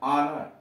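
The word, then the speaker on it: honour: यच silent कहाँ है, जैसे यच ओ एन ओ यू आर, ऑनर, H silent है यहाँ।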